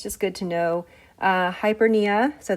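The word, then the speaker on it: hyperpnea: good to know uh hypera so the p is silent um is an increase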